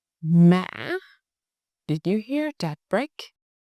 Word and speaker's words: mã: Why broken? Because you go down, stop, and then goes up again. It's almost like two syllables. Listen. Mã. Mã.